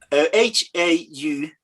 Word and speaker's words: Hautala: Hautala. Pronounce it. Pronounce Hautala. Hautala. Yeah. Hautala. Yeah, exactly. Hautala. Spot on. Yeah. Hautala. Gotta get that little lilt.